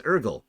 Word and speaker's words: Urgle: you my name is urgle the g is silent oh so your name